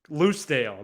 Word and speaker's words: Lucedale: all right let's go Lucedale not Clydesdale I said ludsdale oh